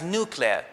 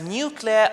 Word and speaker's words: nuclear: Because if you check, or when you check any academic dictionary, it will state that both pronunciations are acceptable.